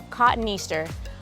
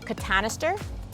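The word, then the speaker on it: cotoneaster: to put in some cotton easter depending who you watch online some people up north might call it catanister i call it cotton easter because that's how we pronounce it down here they give out beautiful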